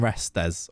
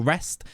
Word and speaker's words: Restes: It's definitely getting Restes or Rest. I think they were saying it Guillaume Rest last night, which would kind of make sense with the French pronunciation.